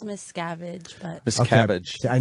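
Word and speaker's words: Miscavige: Miskovich, we're saying the name right. It's Miss Scavenge, but Miss Okay.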